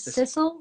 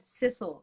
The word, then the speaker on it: Sidsel: My name is Sissel, without the D, but Sissel. I know it's hard to spelled Sidsel, pronounced sizzle with an S.